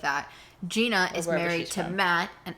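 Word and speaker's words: Jeana: it that Jenna uh no Gina Gina spelled like Jenna that's all I'm gonna say all right Jenna Gina wait she's supposed to be like the word Jean uh like that's why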